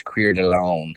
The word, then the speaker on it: Coeur d'Alene: lives not far from how do you say it coeur d'alene coeur d'alene coeur d'alene coeur d'alene uh your friends it's queered alone coordinated alone yeah that's